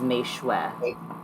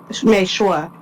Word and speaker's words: Meishu: Michelle is Mei-Shue. Mei-Shue. I forgot that is how you pronounce that. Shue.